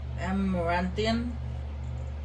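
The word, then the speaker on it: Amaranthine: Alright, we are here at the big city of uh, Amarantian. That's how you pronounce it.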